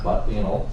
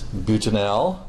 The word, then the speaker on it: butanal: It is not butanol. Okay. It is butanal. It is butanal. That might be what some of you think of this class. Okay, but it's butanal, not butanol.